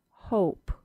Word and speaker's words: hope: O Let's look at the word hope with a long O sound.